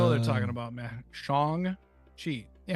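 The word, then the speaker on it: Shang-Chi: Shang Chi.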